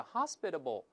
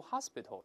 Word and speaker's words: hospitable: 我们注意这个反义词就在右边，叫 hospitable。注意不要读 hospital，那是医院了啊。Hospitable 叫热情